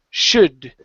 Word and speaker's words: should: sh okay that's incorrect you want to say sh should I don't I don't move my lips into an oo sound it's only sh should